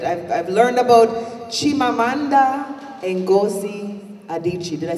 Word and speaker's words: Chimamanda Ngozi Adichie: I've learned about Chimamanda Ngozi Adichie.